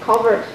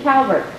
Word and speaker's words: Calvert: films i know there are a lot of families that um pronounce uh culvert county the way that you do covert but then there are others that have a history here that pronounce it calvert and i just wondered what the discrepancy was i don't know all i know is that all my life my family and my grandfather's family said culver and my grandfather's great